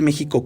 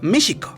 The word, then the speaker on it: México: pero en esa época la palabra méxico no se pronunciaba como si llevara jota sino más bien sh méxico es así que cuando